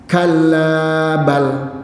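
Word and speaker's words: كلا بل: Kallabal. Nah, ini bacanya begitu, Pak. Ustaz Fajri lebih tahu. Ada saktah di sini. Berhenti sejenak tapi tidak bernapas.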